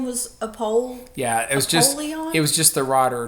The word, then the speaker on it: Apollyon: In Koine Greek, it would have been Apollyon. Close to a polar bear. Apollyon.